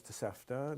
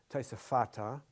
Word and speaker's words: Tosefta: The tosefta, there's actually no such word as tosefta. The actual word is tosefata. Tosefta is yeshiva talk. It's just a thing in yeshiva to deliberately mispronounce Hebrew by taking the Aramaic structure, the Aramaic linguistic approach to Hebrew.